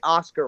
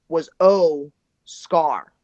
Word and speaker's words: Oscar: Well, my favorite was O Scar. Oh, Scar. Yes. Okay. Oscar. Yes.